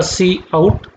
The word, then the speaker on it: cout: जो सिंटेक्स हम इसके लिए यूज़ कर रहे हैं, सबसे पहले तो इसका प्रोनाउंसिएशन होगा सी आउट, इसको प्रोनाउंस्ड करेंगे सी आउट से।